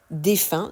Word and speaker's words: défunt: prononciation de ce mot pensez au chiffre 1 qui s'écrit un N défin se prononce de la